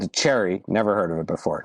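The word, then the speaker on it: Chery: I got another car called a Cherry. Never heard of it before. Not Chevy, but it's like spelled like Chevy, but there's an R.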